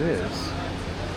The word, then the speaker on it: IJ: It's spelled I-J, but it's pronounced like I, I believe.